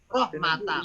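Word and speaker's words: رَحْمَةَ: Rohmata. Bacanya ta.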